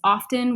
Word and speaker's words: often: with somebody recently about whether it's often with the T pronounced or not. Now, every time the word comes out of my mouth, I'm like, "What is it?" Hyper conscious about it. I Googled it and it is acceptable both ways. However, only about 20% of the American population pronounces the T.